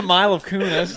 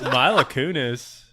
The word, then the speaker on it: Mila Kunis: pronounce any name? Hi, right? welcome to the Mile of Kunis. Mila Kunis.